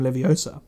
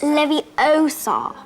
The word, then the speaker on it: Leviosa: even learned when guardium Leviosa stop slides you're saying it wrong it's Leviosa not Leviosa you have a basic